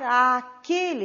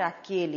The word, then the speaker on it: àquele: E aí nós temos devo voltar a aquele restaurante, a aquele restaurante, só que não devemos pronunciar dessa maneira. Pronunciamos como se fosse um único A. devemos voltar à aquele restaurante.